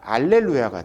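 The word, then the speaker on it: alleluia: 이게 라틴어가 되면서는요. 할렐루야가 아니라 알렐루야가 돼요. 제가 이거를 왜 이렇게 썼냐면 어떤 찬양 보면요. 할렐루야라고 했다가 알렐루야 했다가 할렐루야 알렐루야 왔다 갔다 합니다. 괜찮아요. 라틴어는요. 할렐루야가 아니라 알렐루야라고 해가지고 시읒 발음이 좀 빠졌어요.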